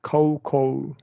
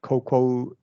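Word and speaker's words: cocoa: close them both hot coco yeah oh so you don't you don't say a Coco just Coco only yeah COC Coco like logo yeah hot coco there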